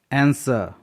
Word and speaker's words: answer: या एंड, जब किसी वर्ड में W के बाद R प्रारंभ में हो किसी वर्ड में तो W साइलेंट होता है। एग्जाम्पल देख लेते हैं। आंसर, ANSWER, आंसर।